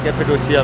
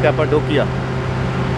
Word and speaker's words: Cappadocia: आज का दिन बहुत इंटरेस्टिंग होने जा रहा है क्योंकि आज हूं मैं कैपेडोशिया में। ये कुछ लोग इसे कैपेडोशिया प्रोनाउंस करते हैं और कुछ इसे कैपाडोकिया।